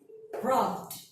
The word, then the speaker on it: rubbed: So if you have the verb that ends with L, V, N, B, and all of the vowel, you have to pronounce it like D. So repeat what I say. Smelled, saved, cleaned, rubbed, like that.